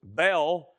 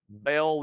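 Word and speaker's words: Baal: It's two syllables. Um it it's mentioned 70 times in the Old Testament and his name Bale means master or lord.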